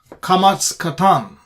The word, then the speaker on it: Qamats qatan: video we'll talk about Qamats qatan or Qamats chatuf, as it is called. This particular vowel symbol, T-looking symbol, which sometimes is pronounced as O instead of A.